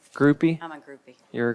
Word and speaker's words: Groupy: Groupie. Groupie?